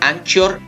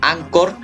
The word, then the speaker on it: Anchor: la ai box y anchor fm aunque el otro día me dijeron que se pronunciaba ancor fm pero bueno sea como sea